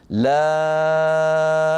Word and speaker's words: لام: لكم خذوا حرف اللام لام لام لام لام نطقت ماذا لام مفتوحه بعدها الف بعدها ميم ساكنه هذه السبعه سنقص لكم